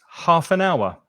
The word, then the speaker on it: half an hour: right so 30 minutes half an hour and be careful of the pronunciation half and joins together half and half an hour half an hour